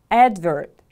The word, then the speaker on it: advert: some product or service advert the stress is on the first syllable repeat after me please